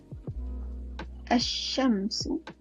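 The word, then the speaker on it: الشمس: tu pada tanda okey kita baca asy-syamsu asy-syamsu kita tak baca syamsu okey kita masukkan bunyi huruf syin contoh lagi satu untuk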